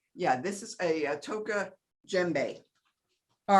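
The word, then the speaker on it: djembe: this is a toca gembe all right you don't it's print it's spelled d g a d j e m b e you don't pronounce the d so let's take a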